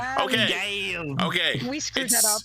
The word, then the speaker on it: Gavv: It's spelled Gavv, and first instinct is Gav, which of course led my brain to, Oi, Gav! No, but then we realized that it's similar to Gabu, as in like a chomping